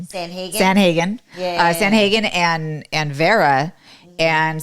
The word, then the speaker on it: Sandhagen: Sandhagen.